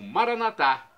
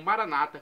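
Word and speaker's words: Maranatha: e agora do aramaico Eu Clamo maranat como dizemos nós católicos ou Maranata como dizem nossos irmãos separados os evangélicos ou protestantes não importa pronúncia o significado é o mesmo vinde Senhor Jesus vem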